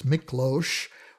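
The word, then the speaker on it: Miklós: first then it's a j sound so it's miklosh rogers was a prominent composer who worked a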